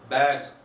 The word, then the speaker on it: bags: Z, bags. Spelling is sa. When S, ucharan is Z.